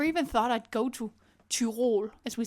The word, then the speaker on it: Tirol: thought I'd go to Tirol, as we say in Danish. I think you pronounce it Tirol or something in English. It's not like the Tyrells from Game of Thrones.